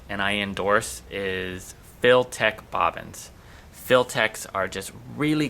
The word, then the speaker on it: Filtec: And if you want to look up any information on Filtech bobbins, it's spelled FIL-TEC, Filtech.